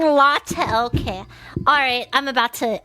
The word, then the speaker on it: LaTeX: L as in lie. A as in father, law. T as in tie. E as in dress. K as in kind, law, Let's let tech.